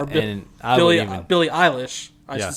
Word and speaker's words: Billie Eilish: She's sort of a thrift store version of Billy Eyelash. Yeah, Or and I would even... Billie Eilish.